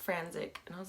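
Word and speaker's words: Frantzich: then he was like it's pronounced frantic and I was like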